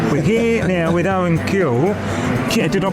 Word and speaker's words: Cule: We're here now with Owen Cule. Did I pronounce that right? You did pronounce that right. Yeah, Cule.